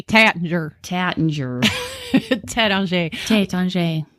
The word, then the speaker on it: Taittinger: those two Tay don't say I'm like Oh Tattinger yeah exactly and I've said it wrong for